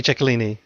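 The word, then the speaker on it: Chicolini: We get Chico's name, or at least a variation of it, pronounced correctly. It's true. Because it would be Ciccolini.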